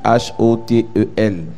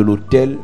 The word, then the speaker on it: autel: talk about the altar, ce n'est pas le lieu d'habitation de passage it's not the living place. qui s'écrit H-O-T-E-L. That is the altar. Lorsqu'on parle de l'autel, When we talk about the altar, ça s'écrit A-U-T-E-L.